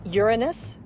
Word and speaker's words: Uranus: I pronounce the planet's name Uranus.